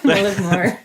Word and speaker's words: Mullaghmore: Well, we shorten it to Mully a lot, but yeah, Mullaghmore.